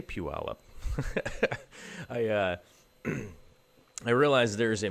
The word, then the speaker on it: Puyallup: fairly soon you can you can tell that I'm a local because I know how to say Puyallup I I realized there's